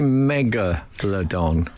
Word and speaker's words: Megalodon: radio how many uh how many syllables in uh Megalodon CU I call it Megalodon should it be megaladon oh I've been saying Megalodon I might be right I say Megalodon do you know why